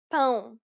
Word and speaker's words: pão: It is similar to the ow sound in English, but with nasality. Saying the word pound repeatedly may sometimes help with pronouncing this sound.